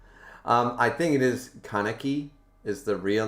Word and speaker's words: Kaneki: tonic says i mean if we can nitpick pronunciation you are saying something more similar to kanaki while his name is kanaki i mean yeah i am but kanaki sounds cooler isn't it like kaneki kanaki sounds cool um i think it is